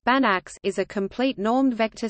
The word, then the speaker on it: Banach: specifically in functional analysis a Banach space pronounced bannocks is a complete normed